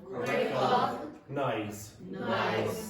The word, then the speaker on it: recognize: must separate this so say that Rec everyone recognize okay so recognize it's that recognize okay say